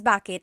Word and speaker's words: bakit: commonly how it's pronounced you might hear people say but usually the letter I sound is dropped and then another way to use baket baket plus a verb